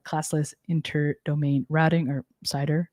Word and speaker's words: CIDR: specified using a classless inter domain routing or cider right cidr i think you pronounce it cider right or cidr i call i've always said